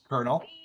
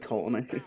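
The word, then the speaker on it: colonel: like right 20 seconds kernel is how that's pronounced i thought it was like colony uh yeah i got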